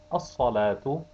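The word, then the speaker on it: الصلاة: Al-salatu, the lam is not pronounced.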